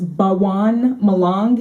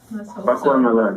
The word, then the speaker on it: Bakwan Malang: It was Bawang Malang. Is that how you pronounce it? Bakwan Malang, yeah.